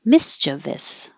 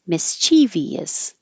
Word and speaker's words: mischievous: And this word has two pronunciations, but the exact same meaning. So the more common one is three syllables, mischievous, mischievous. And another way to pronounce it, but less common, is mischievous, mischievous.